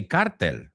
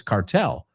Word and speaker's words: cartel: I know you say cartel, right?